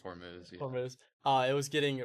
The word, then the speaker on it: Hormuz: happen with Iran and that the Strait of Hormuz or however you pronounce it I think it's Hormuz Hormuz uh it was getting reopened so that we can have more trade.